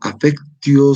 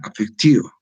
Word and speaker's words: affectio: O sea, otros dicen afectio, ¿ya? Afectio, ¿no? Afectio. No es diptongo, es un hiato, ¿no? El hiato se separa las dos vocales. Entonces, como no es diptongo y es hiato, entonces hablamos de affectio, ¿no?